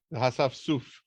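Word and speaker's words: האספסוף: The hasafsuf, that's how you pronounce it.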